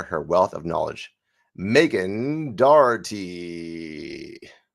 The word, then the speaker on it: Dougherty: offstage what your last name and how to pronounce it was. It's uh it's Dougherty. So, Megan Dougherty.